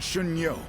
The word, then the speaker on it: Xun Yu: Oh, Lord Xun Yu.